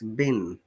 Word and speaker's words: bin: So it's bin. Okay, we're going to show the difference between bin and ben. Bin, shorter sound, shorter I, and longer I.